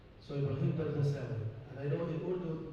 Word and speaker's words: AlDardasawi: I know my last name is very hard, so always they are having some problems pronouncing my last name. So if you remove the A out, it will be easier.